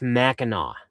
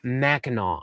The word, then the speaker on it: Mackinac: It's pronounced Mackinac. Okay, Mackinac Island.